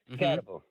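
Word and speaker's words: Skattebo: Skidbo, is that how you say his name? Scatabo? Mm-hmm. Scatabo.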